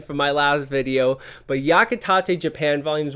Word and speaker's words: Yakitate: of yakitate because i was corrected on my pronunciation from my last video but yakitate japan volumes 1 to 26 about competitive bread